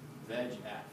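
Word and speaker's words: VEGF: stuff on the internet VF is just all four letters capitalized but we pronounce it v f and the reason that's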